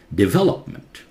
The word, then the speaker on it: development: Development. And ment in British English is pronounced as munt, not meant. Okay? American English, you hear meant.